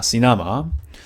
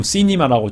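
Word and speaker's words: سينما: 시나마. 이렇게 되어 있습니다. 시나마이온. 저도 가끔 시니마라고 좀 잘못 발음한 경우가 있어요. 시나마. 다 알아듣긴 한 것 같아요. 뭐 시나마이온. 근데 정확하게 발음해 주는 게 좋겠죠.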